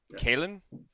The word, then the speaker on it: Kalin: the way what so what's the proper pronunciation of your name I always Kailen Kailen okay cool Kalin Martin Eggman cramps net wrong the whole time what uh-oh it's Irish okay very cool and are